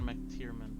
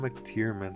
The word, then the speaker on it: McTiernan: John McTiernan. Oh, it's got a Mac in front of it? Yeah, the MC. Like McDonald's, you say the whole thing. John McTiernan.